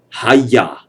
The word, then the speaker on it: Hagia: And it's not the Hagia Sophia, it's the Hagia. The G is silent.